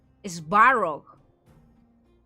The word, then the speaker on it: Svarog: Svarog said it must have been Svarog.